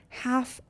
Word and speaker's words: half: listen T is silent half L is silent dishonest so honest H